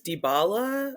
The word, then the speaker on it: Dybala: were um i never i always mispronounced his last name but it's dybala or he's um dybala